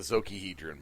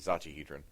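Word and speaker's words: Zocchihedron: It's the Zokihedron, by the way. It's Zachi. It's Zachi. Zachihedron. Yes, the Zachihedron.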